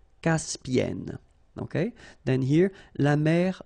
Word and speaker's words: Caspienne: And N, so it does open the sound here. So it's E. Caspienne. Caspienne.